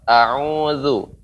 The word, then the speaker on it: a'udzu: Ya, silakan Fauzi diulangi pengucapan zu ya, jangan sampai pengucapan jadi zu. Tapi pengucapannya zu, zu.